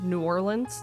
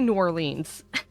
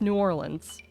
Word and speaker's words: New Orleans: Or New Orleans, that's how you pronounce it. See, where I'm from, here in the good old northern Midwest, we say New Orleans. And that's not how it's supposed to be said, it's New Orleans.